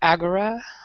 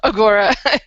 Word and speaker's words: Agora: fantasy series Legends of Agora or agura of ask Agora the traditional Greek pronunciation oh yeah the Orion